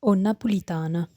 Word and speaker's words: Nnapulitano: Something you'll notice in Neapolitan spelling and pronunciation is the doubling of initial consonants in certain contexts. As we saw before, the name of the language is Nnapulitano.